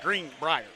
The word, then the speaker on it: Greenbrier: Outside of his pronunciation of Greenbrier, it's throwing me off. He says it's like it's two words. He says Greenbrier. Look, you got to get country with it. It's Greenbrier.